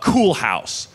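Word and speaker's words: Koolhaus: ice cream sandwiches, and it's called Cool House, but it's spelled K-O-O-L-H-A-U-S. Cool House, yeah? Like the cool house, like the Germans. It's a German cool house.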